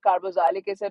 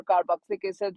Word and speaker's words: carboxylic acid: It can be pronounced as carboxylic acid or carboxylic acid, both are considered correct equivalently.